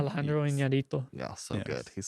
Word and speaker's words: Iñárritu: Iñárritu.